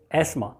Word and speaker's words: asthma: English में इसको एस्मा कहते हैं बस. We shouldn't have any stupid logic. It's asthma.